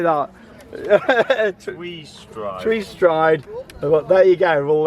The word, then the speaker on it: Tweestrijd: Who's going to try and pronounce that one? Tweestrijd? Tweestrijd, is it, Martin? How do you say that? Tweestrijd.